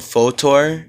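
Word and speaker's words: Fotor: uh I've been going on this website called photor it's spelled f-o-t-o-r um and uh it's pretty fun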